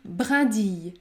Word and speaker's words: brindille: Lorsque vous avez la combinaison I, deux L, vous devez prononcer le son I, I, comme dans le mot fille, fille, myrtille, myrtille. La bonne prononciation est donc brindille, brindille.